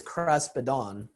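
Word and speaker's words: κράσπεδον: All right, so we're going to mainly look at this Greek word that is pronounced as kraspedon, which I said before in the English Septuagint 100% of the time is translated as tassel or fringe.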